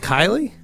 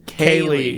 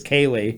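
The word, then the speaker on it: Kai: Is it Kylie? He's totally unsure. K-A-I? L-I-E. He says Kylie? Kaylee is how Kaylee? he's saying phonetically it's Kaylee. Kaylee. Well, I feel like an idiot now. You've been calling her Kelly.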